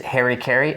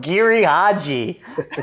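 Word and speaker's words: Giri/Haji: Like, So another one, if you're into Japanese stuff, is Harry Carey. Or sorry. Oh God, I did not mean to be such a dick about that. I just mispronounced it. It's called Giri Haji.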